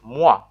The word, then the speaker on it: moi: Actually, in French, the word is pronounced moi, and it means me.